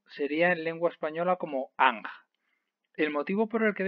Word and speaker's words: Anj: lectura del mismo sería en lengua española como anja el motivo por el que hemos escrito anc